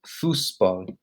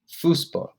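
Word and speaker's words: Fußball: characters in german that that looks kind of like a b but it's pronounced as a double s so it's fusbo fuspo that's how you'd say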